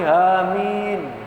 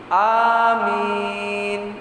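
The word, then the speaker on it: آمين: Kalau anak-anak kecil kadang-kala tidak amin tapi hamin. Ada itu. Ada lagi yang menggunakan lafaz pendek, amin. Ya. Yang betul apa? Ini menggunakan mat tabi'i, amin bersamaan. Jadi tidak amin atau dengan panjang amin, tapi cukup mat tabi'i.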